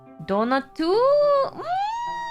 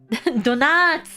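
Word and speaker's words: ドーナツ: Donatu? Close! Let me pronounce it for you.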